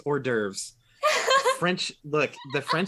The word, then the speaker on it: hors d'oeuvres: hors d'oeuvres hors d'oeuvres oh my god it's hors d'oeuvres french look the french spelling of words can't have you ever read how or hors d'oeuvres is ridiculous h-o-r-s space d-apostrophe o-e-u-v-r-e-s good lord